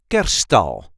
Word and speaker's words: Kerststal: a regular Dutch accent Kerststal, or in English the nativity scene. This is how we say Kerststal. Kerststal. The emphasis is on the first syllable.